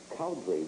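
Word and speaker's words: Cowdrey: Cowdery, if I pronounce that correct, Colorado?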